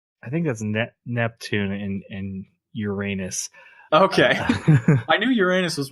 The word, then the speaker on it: Uranus: I think that's Neptune and Uranus.